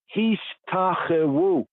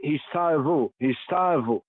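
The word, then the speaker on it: השתחוו: honor of his name, Hishtachewu, some would say Hishtavu. Modern Hebrew, Hishtavu, right? Hishtachewu, y'all, to worship, to shaha.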